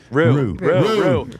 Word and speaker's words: roux: The paste or rao is then added to the bread dough. Roux. For those watching. Roux.